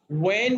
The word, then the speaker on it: when: Number 3, when do you eat, বলুন তো number 3টা। When do you When eat? do you eat? when এর তুমি- এইচটা আমরা উচ্চারণ করব না।